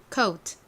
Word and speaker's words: coat: 그래서 합쳐보면 coat. 이렇게 발음이 됩니다.